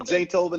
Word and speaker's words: Zaytoven: Me and Zaytoven. That's it, Zaytoven.